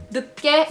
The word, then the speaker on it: 늦: 늦게 일어났어요. 늦게 일어났어요. Remember, you say the 늦, not the nut.